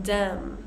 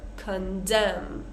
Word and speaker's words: condemn: example Autumn column con condemn right and we want to get the stress correct on this word condemn right so the stress is on the second part condem him solemn one